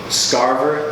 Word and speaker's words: Scarver: let you introduce yourself my name is Starr burr that's like Harvard with the essent they're so scarce and that's how we pronounce that I am the co-owner of doula